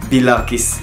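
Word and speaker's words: bilakis: وبرده كلمه بالعكس هي هيها بس بتنطق بلاكس لان هما ما عندهمش حرف العين.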